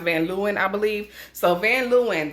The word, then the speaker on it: Van Leeuwen: I thought it was Van Leeuwen, but based on the website, they're pronounced Van Leeuwen, I believe.